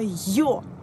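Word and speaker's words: Ё: Par exemple, la lettre E tréma, en russe, c'est la lettre Yo. Voilà, yo.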